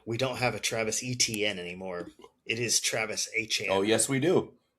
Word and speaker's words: Etienne: on another team was going by Achane and had to correct pronunciation. No, you're Etienne, dude.